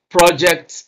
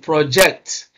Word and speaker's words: project: you can see that when this word is used as a noun stress is on the first syllable so the word class of the N of the of the word the uh determines where we place stress if it's a noun we place stress on the first syllable if it is a verb we place stress on the second syllable and by the way